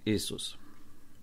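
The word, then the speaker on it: Ιησούς: naszego Zbawiciela grecki Jezus W chwili obecnej prawidłowo wymawia się isus zgodzę się obecny język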